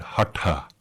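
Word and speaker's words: haṭha: in roman script h-a-t-h-a one has to put a dot underneath the t so because it's a retroflex t you turn your tongue back against the roof of your mouth to say that and then it's aspirated to make the hassan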